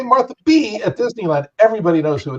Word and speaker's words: Martha B: It's not just Martha B. It's Martha B, like with an exclamation point at the end. So you kind of have to vocalize the exclamation point. And it's like, Martha B.